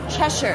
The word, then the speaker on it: Cheshire: is up there it's like that's Cheshire Cheshire Cheshire that's how you say it Cheshire smile Cheshire